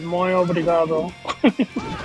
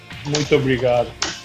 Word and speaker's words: Muito obrigado: No, one is Fala Portuguese, and then the other one is Muy Obrigado. Yeah. You're almost there. Muito obrigado. Exactly.